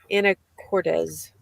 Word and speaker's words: Anacortes: I'm in a town called Anacortes. Anacortes. There's not a Z at the end. It's an S, and I keep saying it wrong.